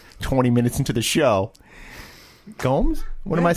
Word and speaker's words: Gomes: Now, 20 minutes into the show, Gomes. What am I saying? Gnomes? You're saying gnomes, like little garden gnomes.